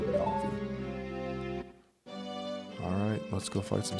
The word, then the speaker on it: Navi: Do you pronounce it Navy or Navi? I've always said Navi.